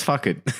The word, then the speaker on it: Phuket: You might have to correct my pronunciation. We're going to Phuket. Yeah, it's fuck it.